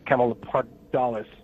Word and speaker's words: Camelopardalids: of that that Camel uh camel leard dollis I think is how how it is um and and where